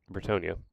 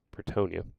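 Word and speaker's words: Bretonnia: It might not be something we could feasibly do, but if I could ignore Bratan uh Bratannia, Britonia, that's how it's pronounced. Bretonia.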